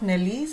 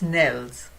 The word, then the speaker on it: organelles: So, I was also pronouncing wrong. I was saying organelles. It's not Nellies, it's Nels.